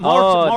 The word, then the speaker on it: Morten: Joaquin Sandstrom is telling you how to pronounce Morten. Morten. There you go.